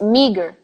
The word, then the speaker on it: meager: And I think I like to mention what you guys might be saying, which is meager, meager, meager, meager, me. There is an effort in that long sound.